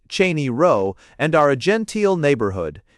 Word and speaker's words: Cheyne Row: We are called Sheney Rose Proper, pronounced Cheney Row, and are a gentile neighborhood.